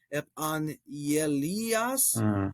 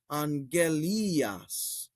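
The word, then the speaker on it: ἐπαγγελίας: So now the question is, should this be pronounced epangelias, like epangelias? No, because this consonant cluster, this consonant pair comes first, ang. So we're just going to stick with that, angelias.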